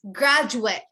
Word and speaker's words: graduate: the verb is correct you would say the noun as graduate graduate you have to end it at the t everyone repeat repeat yes